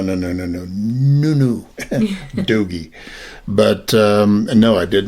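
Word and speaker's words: dogie: A doggy. A doggy. Spell that.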